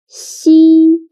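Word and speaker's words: xi: The last one is she. She sounds a little bit like the first sound of sheep. But when pronouncing she again, your tongue should be more flat and you need to stretch your mouth to two sides.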